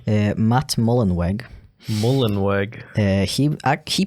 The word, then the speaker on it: Mullenweg: the CEO is named his name sounds really like German but he's American so I'm gonna pronounce it like an American a Matt mullenweg mullenwork uh he uh